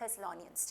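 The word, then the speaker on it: Thessalonians: इसका नाम है थेसालोनियंस तो आप इंग्लिश में इसको प्रोनाउंस करते हैं थेस नियस टी यहां पे थ की फॉर्म में यूज होगा थ की साउंड थेलो नियस ठीक है थेलो नियस अब आप मेरे पीछे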